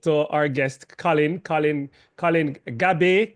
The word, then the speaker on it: Gabay: Colin Gab, correct? Gab is the correct pronouncing. That's correct. Colin Gab.